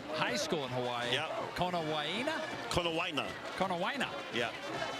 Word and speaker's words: Konawaina: Konawaina. Yeah. You can add all those, vowels in if you want to pronounce every one of them. That's what I was doing. But you can get away with Konawaina.